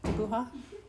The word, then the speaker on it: dibuja: Your J's are pronounced with an H sound, right? Dibuja.